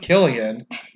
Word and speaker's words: Cillian: that I'll go ask Cillian Murphy his name's really pronounced Killian and he's a very